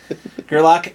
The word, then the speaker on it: Gerlach: It's Gerlach and Brian, son of a bitch, I am never gonna...